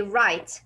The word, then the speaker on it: write: Then this word, if you come to this word, it will not be right, it will be right. Why? Because W here is silent.